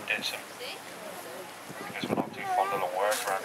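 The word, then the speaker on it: Dittisham: And over the years, Dedus' ham has become Didisham. Although locally we do pronounce it Ditson.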